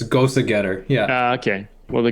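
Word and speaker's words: Gose: yeah yeah it's I think like it's actually pronounced Gosa go a German word it's Gosa getter yeah okay well the Gosa with salt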